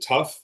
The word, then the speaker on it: TAWF: Well, so the T tawf, we pronounce it tough, like the team arm wrestling federation.